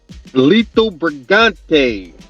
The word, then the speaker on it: Lito Brigante: Lito Brigante.